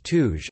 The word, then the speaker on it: Turaj: The Pahlavi pronunciation of Turaj is Tuj, according to the Decoda dictionary.